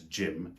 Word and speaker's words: gym: So the names that I can think of are, for example, the name Jim, J-I-M, which is pronounced exactly the same as gym where you work out.